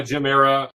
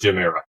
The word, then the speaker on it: Gem Era: So, the X is silent. Just go by Jim Era.